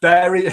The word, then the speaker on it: Bury: we've got Fleur arose from Barry pronounced bury lancashire welcome son lover